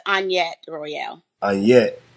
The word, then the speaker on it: Annyett: ticking with the lovely Annette I said your name right on say it wrong no it's on yet where were you on